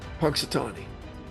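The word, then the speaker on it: Punxsutawney: ] I've been to I've been to Punksatonyi. It's a nice place, but their groundhog can off. You know what? How do you pronounce that? Punksatonyi.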